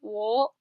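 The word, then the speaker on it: を: Wo. And wo is actually a bit complicated. So wo by itself, you pronounce it like wo, like a W-O. Wo in a sentence is actually pronounced as just O.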